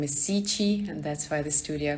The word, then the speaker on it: Cichy: my name is my last name is si chi and that's why the